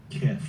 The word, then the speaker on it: Queth: How do you pronounce it? Keth or Queth? Kith. Keth. Okay. Kith. So It's like a saying kiss, but it's Mike Tyson.